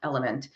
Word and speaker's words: LMNT: alex is asking about the electrolyte product lmnt it's pronounced element i have element i